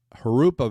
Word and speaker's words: Jurupa: The J in California is pronounced like a H. Jurupa Valley.